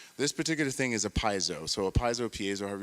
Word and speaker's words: piezo: this right here is called a piezo or piezo or however you want to pronounce it there's so many different ways to go about doing that but piezo and this is a